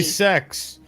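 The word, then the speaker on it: sechs: Or they say in Germany, sex. What? What German, in German, six. Oh. Sex, Okay. yes. But Sex. it's spelled Okay.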